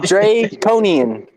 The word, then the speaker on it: Draconian: Anybody listening right now, it's pronounced Dre, like Dr. Dre, Cone, Yeah. Ian, like Ian, Draconian Combat.